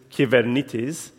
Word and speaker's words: Kubernetes: of saying Cuban it is in Greek is given it is but kubernetes came along in the US and